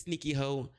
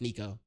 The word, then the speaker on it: Sneako: I mispronounced Sneako. I said sneaky hoe. My bad. I mispronounced Sneako.